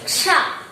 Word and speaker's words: क्ष: अब तो बता रहे हैं ना, क्ष, उच्चारण करो क्ष।